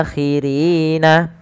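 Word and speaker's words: الآخرين: Nah, ketika ada 2 sukun ini, maka yang pertama kita panjangkan dulu ri-nya sepanjang berapa harakat? Kita boleh memanjangkan 2, 4, 6. Dan inilah yang kita namakan dengan mad arid sukun. Tapi kita mengambil yang tengah-tengah, yaitu yang 4 harakat saja. Maka rin.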